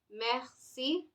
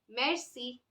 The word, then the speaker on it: merci: silver clay Mercy Mercy merci merci thank you if you can't read it with this accent it's okay absolutely fine you can read it at read it as Mercy that is also fine okay now this is